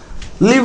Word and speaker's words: live: நீங்கள் அதை 'லிவ்' என்று உச்சரிக்க வேண்டும்.